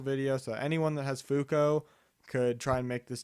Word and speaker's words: Fuco: I think it's pronounced Fuco. I'm not really sure how else you would pronounce it, I guess, but that's how I pronounce it.